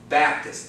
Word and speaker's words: Baptist: manner of words Baptist where's the accent first syllable Baptist it's not that pitch on the Baptist I go to a Baptist